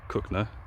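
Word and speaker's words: Cogenhoe: For those of you who don't know Cooknoe is spelt Coganhoe but pronounced Cooknoe.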